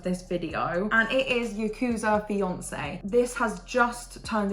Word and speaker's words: Yakuza: is a psychological drama yakuzi romance and Yakuza I meant not yakuzi so sorry if I'm